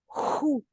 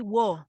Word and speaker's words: who: Who? Who? Okay, that's change a little bit. So don't say whoa, whoa.